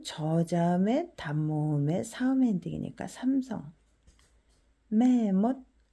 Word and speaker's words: แม่มด: 매못 발음은 이렇게 해요.